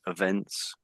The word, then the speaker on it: events: I think with this word here, I think you sort of made the first E you give too much emphasis to the first E, I would say. So I think it says something like events, but it tends to be more said as events, something like that.